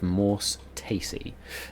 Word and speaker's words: Morse Taesi: And you were teleported, outside the small city of Morse Taesi.